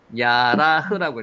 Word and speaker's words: 예라: 예라, 요거는 야라흐라고 읽혀집니다. 야라흐.